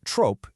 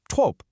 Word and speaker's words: trop: So tr o p isn't trope. It's just trope. That p completely vanishes.